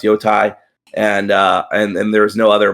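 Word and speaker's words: Yōtei: all just come together and say that it's pronounced Yotai, and there's no other pronunciations out there.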